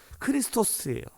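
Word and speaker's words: Χριστός: 그런데 우리가 그리스도 우리가 예수 그리스도를 뜻하는이 헬라어 발음이 뭐냐면 크리스토스예요 크리스토스 어제 좀 비슷하지 않습니까이 그리스도라는 이름의 뜻이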